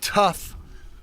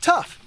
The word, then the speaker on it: Tuff: And that's spelled T-U-F-F, the way tough is always spelled.